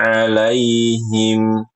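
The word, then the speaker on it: عَلَيْهِمْ: Nah, Ibu ini alaihim yang kedua ini, maaf, saat membaca alaihim atau di ain yang kedua, ini Ibu kurang ainnya. Kalau an'amta sudah lumayan. Tinggal alaihimnya.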